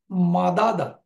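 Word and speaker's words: مدّ: যেমন মাদাদা, এটা হচ্ছে মিম দাল দা, তাহলে মাদাদা, তাকে আমরা উচ্চারণ করব মাদ্দা, অর্থ হচ্ছে টু এক্সটেন্ড।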